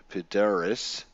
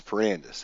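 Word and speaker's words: Perandus: Uh the crest of Pedoris, uh which we actually bought with our Podoris coins. I'm probably saying his name wrong. Pandis. I'm sorry. It's Pirandis. That's right. So, we had this item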